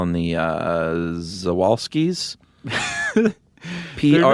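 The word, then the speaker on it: Przewalski: they're named after but when you start your name with three consonants I never know which one is silent oh okay so how do you spell it prz oh I was not gonna guess this ew all ski uh so I'm just gonna say zawalski's horse but um people were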